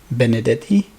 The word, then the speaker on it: Benedetti: what's your first name what's your surname Benedetti Benedetti how do you spell it b e n e d e double